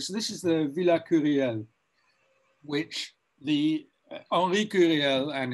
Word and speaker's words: Curiel: Is that how it's pronounced? Curiel, is it? Or? Curiel, yeah.